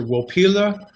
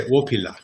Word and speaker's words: Wopila: first word is um depending on your inclination it's either willpila or as the lakota would say opilla and the word i